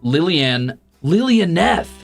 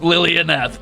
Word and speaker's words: Lilianeth: Pronounced Lilianeth. Lilianeth. Oh my God! You waited until the end of the stream. You drip fed me chips and mispronunciations. Damn it! Thank you for the soup, Lilianeth.